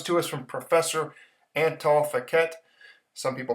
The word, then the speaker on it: Fekete: This comes to us from Professor Antal Fekete. Some people pronounce it Fekete, a Hungarian economist that I have a lot